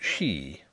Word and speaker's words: ski: never settled by anybody the captain said ski but he did not object to she which was said to